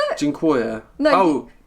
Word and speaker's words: Dziękuję: my mum, and you're like, how do you pronounce it? Dziękuję. No. Oh, Dizzaluk.